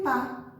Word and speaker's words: pas: Eu não falo francês, o ne vai vir antes do verbo e o pas, que é P-A-S, que a gente não pronuncia o S, vai vir depois do verbo.